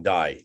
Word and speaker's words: Dye: And we shall do that. We shall do this. Guillaume D, or you can pronounce Dye if you want, but French it's D-Y-E.